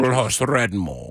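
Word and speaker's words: Old Hoss Radbourn: Oldhouse Radbourne.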